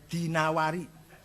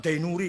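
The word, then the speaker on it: الدينوري: dinawari yang ada ini bacanya dinawari Jono dainuri enggak ada kota Dino adetina war-nya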